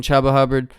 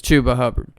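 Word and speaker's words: Chuba Hubbard: name till this week I've been saying chubba hubard it's chuba hubard there's only one B so chuba hubard at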